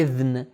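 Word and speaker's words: إذن: ہیں، کہتے ہیں اذن، کیونکہ ہمارے یہاں اردو میں دال ذال اور ری زے، اس میں جو زے اور ذال ہے اس کو ہم ایک ہی طرح تلفظ کرتے ہیں، لیکن عربی میں صحیح تلفظ اس کا ہے اذن۔ اذن یعنی پرمیشن، اجازت۔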